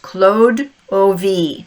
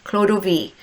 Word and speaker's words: Clodovea: So the hero, her name is it's spelled Clodovea, but it's pronounced Claude O.V. Claude O.V.